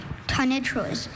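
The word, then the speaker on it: tonitruous: Tenitroous. May I have all of the information? Tenitroous is the only pronunciation I have.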